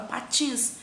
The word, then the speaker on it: patins: penúltima é que eu tenho uma palavra patins par patins Ok a sílaba tônica dela é TIM sim né patins tinhas é a sílaba tônica é a última e que eu tenho